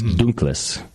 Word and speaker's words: Dunkles: By the way, it would actually, if it was German, it wouldn't be Dunkel, it would be Dunkles. There's an S, it's Dunkles, according to the great Dan Gordon.